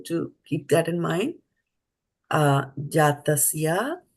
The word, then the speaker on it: jātasya: Jātasya and not jātasye.